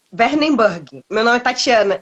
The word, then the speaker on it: Wernenburg: aqui pode ficar tranquilo como é que pronuncia esse nome de alemã e é werneburg meu nome Tatiana é